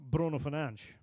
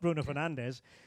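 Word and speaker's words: Bruno Fernandes: player in in England, Bruno Fernanch. You know, that's how he says his name. Not Bruno Fernandez, Bruno Fernanch. So, he goes to England and a decision is made.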